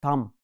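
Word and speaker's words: thumb: no bigger than my Thum B sound is silent we will pronounce it as Thum I put him in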